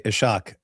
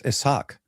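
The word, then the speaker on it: Ishaq: David, don't try to correct him and say it is quite obvious to accidentally mispronounce it because it's an S and an H side by side.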